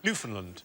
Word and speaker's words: Newfoundland: you now uh no it isn't the correct pronunciation Newfoundland hey enough violence on this show yeah